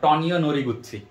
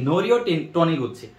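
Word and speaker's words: Norio Taniguchi: হ্যাঁ আমি একটা উচ্চারণ করতাম এরকম যে তোমার টনিও নোরি গুচ্ছি, সো এটা একটু ভুল করো না তোমরা, এটা হচ্ছে কি নোরিও টনি গুচ্ছি।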